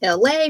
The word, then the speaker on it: Elay: For those of you who do not know, my name is LA, pronounced like LA, like the city.